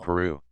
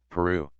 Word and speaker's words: Peru: And Peru is stressed second syllable by the double R.